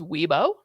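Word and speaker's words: Wibaux: For the pronunciations, W I B A U X is Weebo.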